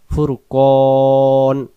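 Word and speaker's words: فرقان: না তাহলে উচ্চারণ হবে দম ছেড়ে দিলে আমরা উচ্চারণ নুন জবর না পড়ে ফুরকান এভাবে পড়বো ফুরকান না ফুরকান আবার এখান থেকে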